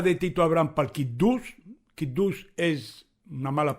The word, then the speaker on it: Kiddush: El Kiddush se debería pronunciar Kiddush, lo repito, pero nosotros los jaquitos,